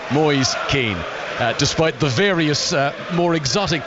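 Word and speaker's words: Moise Kean: Akeem up front and by the way that is the pronunciation we have checked with the man himself boys keen to think David Boies and think Michael Caine that's America boys keen despite the various more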